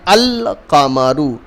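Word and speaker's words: القمر: And the remainings are huruf kamariya, where we pronounce the alif lam separately from the first word, like al-qamaru.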